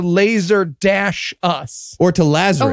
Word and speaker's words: Lazarus: You don't even say it right. It's Lazarus. It's supposed to be a reference to Lazarus. We don't even say it. We say Lazer Us.